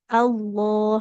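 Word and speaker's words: الله: Jadi enggak ada bunyi wau sukunnya. Jadi enggak jangan lagi baca lafaz Allah au tidak au tapi Allah.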